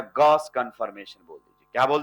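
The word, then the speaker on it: gauche: Partially staggered बोल दीजिए या गॉस कंफर्मेशन बोल दीजिए। क्या बोल दीजिए? Gauss. Pronounce as Gauss. Spelling ji ए यू सी एच ई लेकिन प्रोनाउंस कैसे होता है? गस तो इसको गॉस बोल दीजिए या पार्शियली स्टगरर्ड बोल दीजिए।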